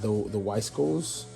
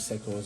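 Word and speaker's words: Wiseco: If you bought the Weiscos, I know I've been saying it was Secos, I guess I've been pronouncing it wrong.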